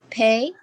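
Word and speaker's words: پ: Pay. Pay. Pay you can remember like payday. You know, you have to relate the letters with any specific thing. So it will be easy remembrance. Pay had 3 dot under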